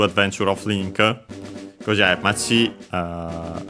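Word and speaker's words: 町: Because yeah, Machi should be accent under the last syllable it is.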